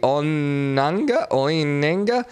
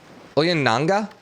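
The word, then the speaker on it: Ounianga: Oyananga is kind of what it sounded like.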